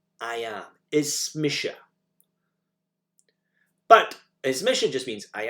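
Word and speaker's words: Is mise: My name is in Gaelic, though we use a more emphatic form of me and we say Ismisha. I am. Ismisha.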